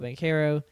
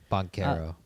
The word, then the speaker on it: Banchero: I can't roll my Rs, otherwise I would.